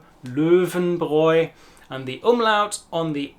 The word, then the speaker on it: Löwenbräu: I think you can do a similar exercise in that you say a German E sound, E, and then try and round your lips to form an O sound, so it's a mixture between O and E.